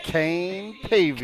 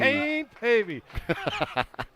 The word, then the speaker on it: Pavey: Kane p are H you got to say it like this Kane Pavey Kane Pavey as butr say double